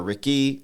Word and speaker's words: Rique': understood you know so you could say Rick or Ricky you know what I'm saying it depends on your dialect on how you want to pronounce it I choose to say Ricky yeah I like Ricky